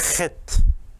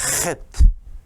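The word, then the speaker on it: חית: 발음이 헷입니다. 헷. 독일어나 유럽의 언어에는 이런 발음이 있는데 우리말에는 없죠. 헷. 이 가래 끓는 소리 비슷한 거죠. 헷.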